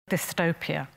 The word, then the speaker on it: dystopia: For other speakers, the two parts are fused into one, so the S makes the written T sound more like D. Dystopia.